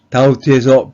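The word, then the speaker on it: doubt: 라지컬 파월 3번 의구심 다우트에서 비는 발음하지 않습니다 4번 창의력 create의 뜻을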